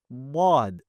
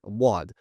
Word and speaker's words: ض: As you learned, we want to ensure a few key points regarding letter wad. Firstly, we want to ensure that we're not pronouncing it from the tip of our tongue, if it is very a common misconception.